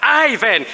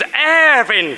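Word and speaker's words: Irvin: He would yell, "For heaven's sake, he is not Ivan, he is Ervin Khoza. He is Ervin Khoza. The IR is pronounced ER, Ervin Khoza, not Ivan."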